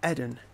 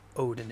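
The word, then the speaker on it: Oedon: It's like, it's not Odin, it's Eden. It's pronounced like Oedipus. It's spelt the way Oedipus is.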